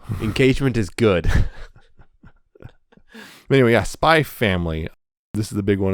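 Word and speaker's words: Spy × Family: is yes it is spy family not spy x family do not pronounce the x you're not pronouncing x and now having said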